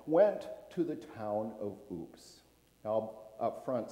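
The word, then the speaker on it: Aups: Kennedy, anchored in Marseille, France, a small contingent was invited to come to the town of Oops, France. Oops is in I fell, is how it's pronounced.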